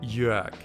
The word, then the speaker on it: Jörg: Ich heiße Jörg. J Ö R G. Here the R almost sounds like an A.